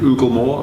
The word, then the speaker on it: Oooglemore: theater jeremy harkiby and ooglemore ugamore is spelt with three o's at the beginning so it's oogle more and jeremy it's actually